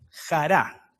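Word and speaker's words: χαρά: la palabra gozo es la palabra Jara Jara con acento en la a y nosotros vemos que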